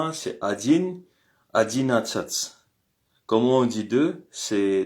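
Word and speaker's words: одиннадцать: C'est adin adinat.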